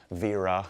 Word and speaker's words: Wera: And I went with Vera, if you want to pronounce it properly.